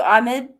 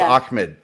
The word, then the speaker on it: Ahmed: we want to do Ahmed you mean clip I think it's pronounced Ahmed that's how I've heard it every time it's spelled a a-h-m-e-d and people say Ahmed but whatever it is